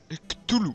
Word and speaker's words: Cthulhu: Je sais pas comment ça se prononce, mais c'est pas grave. Donc, C-T-H-U-L-H-U. Donc ça fait Cthulhu.